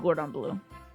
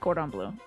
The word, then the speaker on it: Cordon Bleu: I don't blame you for saying Gordon Bleu. Because it sounds exactly like Cordon Bleu. Cordon Bleu, Gordon Bleu. Basically one letter off, so.